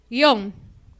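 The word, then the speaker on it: guion: Porque algunas personas lo pronuncian como bisílaba, otras personas como monosílaba.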